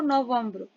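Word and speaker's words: novembre: नवंबर को हम फ्रेंच में लिखते हैं यहां प्रोनाउंस कैसे करते हैं इसको नवंबर एंड हम लिखते हैं एन ओ वी ई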